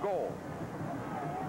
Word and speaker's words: Gould: And Dwayne Goldborn, actually it's pronounced Goldborn, spelled Gould, pronounced Gold, in his 6th year not such a big deal.